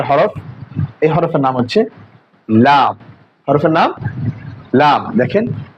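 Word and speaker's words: لام: এই হরফের নাম হচ্ছে লাম হরফের নাম লাম দেখেন লা দেখেন জিববার আগার কিনারা সামনের উপরের দাতের ঘোড়ার সঙ্গে লাগা সামনের উপরের দাতের ঘোড়ার সঙ্গে লাগায়ে হরফ উচ্চারণ করতে হবে দেখেন এরপরে দেখেন এ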